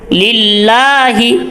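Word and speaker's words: لله: গোল হবে আলহামদুলিল্লাহি অনেক কে বলে লিল্লাহি মুখটাকে উঁচু করে গোল করে ফেলে এবং বড় করে ফেলে তো মুখ এত বড় হবে না লিল্লাহি ভিতরগতভাবে আওয়াজটা আপনার ভিতরে মোটা হবে কিন্তু ঠোঁট বড় বা গোল হবে না লিল্লাহি রব্বিল এখানে র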